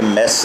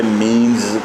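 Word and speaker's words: mesne: मीन्स profits ये देखें, spelling मैंने कहा था कि मेस नहीं लिखे हुए हैं, मगर इसको मेंस लोग पढ़ते हैं। डिक्शनरी में इसे मीन्स कहा गया है, MEANS, मीन्स प्रॉफिट करके इसको तलफ़्फ़ुज़ किया है।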